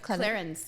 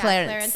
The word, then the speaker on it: Clarins: Clarins. Yeah, Clarins. I mean, like, I feel like some people say Clarins, and I'm like, I wish I had that, like, French sophistication, but yes, Clarins. Well, Clarins is a brand.